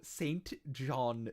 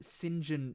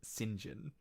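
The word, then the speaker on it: St John: name is cecil wormsborough saint john noms oh wait sorry cecil wormsborough sinjin knobs sinjin is spelled saint john but pronounced sinjin uh oh oh uh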